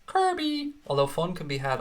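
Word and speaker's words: Kirkby: I'm going to pronounce it correctly in case that arsehole from yesterday is watching. Kirby. Kirby. Much like Furby, but it's Kirby.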